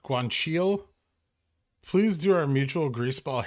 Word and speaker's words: guanciale: But a true Italian knows guanciale is pronounced guanciale.